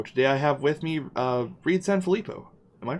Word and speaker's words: Reid San Filippo: cool crowdfunding show today I have with me Reed Sanfilippo am i pronouncing that right yeah yes Reed Sanfilippo all right and you're here to talk to